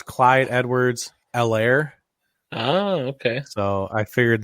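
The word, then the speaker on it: Helaire: so there his eight the h is silent i learned oh yeah yeah i think they talked about it in the game so it's clyde edwards l air oh okay so i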